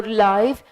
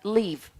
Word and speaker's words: live: the word live or life it has a different pronunciation the first one the live so it's pronounced as the life and it's an adjective but the second one